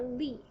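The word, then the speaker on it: 力: Li, the second character, Li.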